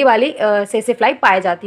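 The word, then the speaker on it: tsetse: की बॉडी और दूसरा सेसे फ्लाई। कौन सा फ्लाई? सेसे फ्लाई। इसको हम लिखते हैं टी करके, लेकिन टी इसमें प्रोनाउंस नहीं किया जाता, इसलिए हम सेसे फ्लाई बोलते हैं।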